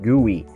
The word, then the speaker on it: GUI: graphical user interface or GUI or the way pronounce it GUI which is the user interface still being used